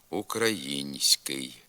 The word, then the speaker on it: український: ця м'якість не позначається візьмімо слово український у ньому за допомогою м'якого знака показується пом'якшена вимова тільки звука с а м'якшення звука н не позначається Хоч він вимовляється також пом'якшено український така невідповідність орфографії слова